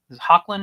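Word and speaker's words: Hoechlin: the the new one Tyler um hawlin is how you say his name uh he you know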